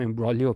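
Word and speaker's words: imbroglio: एम्ब्रोलियो होता है हमारे पास, एक तो पहली चीज़ तो ये है कि इसमें जी साइलेंट होता है, इसको हम एम्ब्रोलियो पढ़ते हैं।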